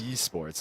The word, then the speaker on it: Esports: I always mess it up, but you always pronounce the E, but it's E in Esports. Esports, there we go.